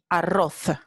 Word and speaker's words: arroz: Pues aquí está la letra Z y en el norte y centro de España esta palabra se pronuncia arroz, arroz, con la interdental fricativa sorda.